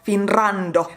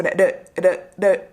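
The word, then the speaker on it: フィンランド: desu" "I'm Finnish" You need to pay attention to the "r" sound as it's not "FinRRRando" The "r" has only one vibration That's why it may sometimes sound like "FinLando" You can say it as "Finlando", it doesn't sound wrong It's better to make it more L than R as "FinRRRando" doesn't sound as smooth Japanese So try to make just one vibration So "Finrando" means "Finland"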